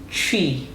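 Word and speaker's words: Twi: as the Asanti people is also entitled tree. Do you want to say tree? Tree. Tree. Tree. That's it. And it's spelled T Wii.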